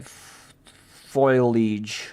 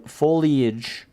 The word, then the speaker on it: foliage: Where my my foilage foilage foil foliage. I was mispronouncing it on purpose that time.